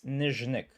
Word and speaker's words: Nyzhnyk: What's the right pronunciation of my surname? It's Nyzhnyk. So the ZH sound is Zh. That's yeah, that's the difficult part. A lot of people get it wrong, but I just go by.